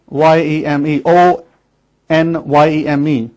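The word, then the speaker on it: Onyame: word spelled is N-N-Y-E-M-E, O-N-Y-E-M-E, on Yeme, but they don't pronounce the O and the N.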